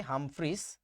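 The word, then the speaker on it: Humphreys: ফুন্ড লাস্টেরটা হচ্ছে হামফ্রে বইতে লেখা থাকে হামফ্রিস তো আমি ওইটাই লিখতেছি হামফ্রিস একচুয়ালি নামের উচ্চারণটা হচ্ছে হামফ্রে উইলিয়াম হামফ্রে তুমি এটাকে ফুন্ডও বলতে পারো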